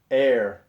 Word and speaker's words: heir: spice Imperial Stout by air apparent not to be confused with hair a lot of people